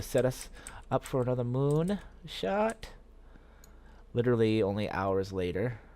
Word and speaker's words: Mun: It's actually pronounced moon, I guess, from what I've been told. We used to always pronounce it the mun back in the old days.